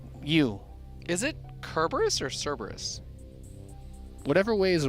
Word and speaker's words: Cerberus: Because I'm looking at the name, and I think it's Cerberus. Yeah, it's fun to say Kerberos though.